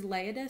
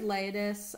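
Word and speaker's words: Leiodes: and here is uh here's leiadis sorry i pronounced it wrong the first time i see the accents now so here's laid this um for me it's on page 419.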